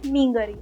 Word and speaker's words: meen curry: And this is mainly pronounced like kappa and meengari.